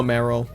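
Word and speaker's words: Marill: get out of here or more real if you want to pronounce it that way all right we can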